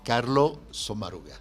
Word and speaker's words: Sommaruga: Así, Carlo Sommaruga.